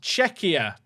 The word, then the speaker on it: Czechia: It's pronounced Czechia.